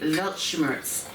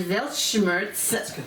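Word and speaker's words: Weltschmerz: spell it is it it's pronounced with a V because this German is derived from German okay but it's w e l t C uh s c h m e r z velt Schurz and velt Schurz is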